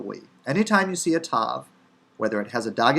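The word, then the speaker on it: ת: when we transliterate and it's simply pronounced as in the personal name tamar now you see the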